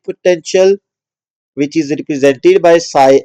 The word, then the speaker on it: psi: ये जो साइन है इसको psi पढ़ते हैं, पी एस आई, ठीक है, पी साइलेंट है, psi p.